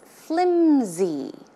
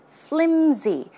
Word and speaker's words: flimsy: see the pronunciation is flimsy flimsy it's not pronounced with an S sound but it's closer to a z z sound flimsy flimsy